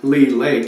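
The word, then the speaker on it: Leigh Lake: around Lee Creek and Lee Lake it's spelled l e i g h and this is Lee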